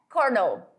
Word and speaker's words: colonel: Já coronel é colonel. Colonel. Sim, essa palavra se escreve assim, colonel, mas eu vou ler diferente. Eu vou ler colonel.